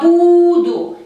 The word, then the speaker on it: буду: Para pronombre personal yo es terminación U y el acento cae en la primera U de esta palabra. Я буду, я буду.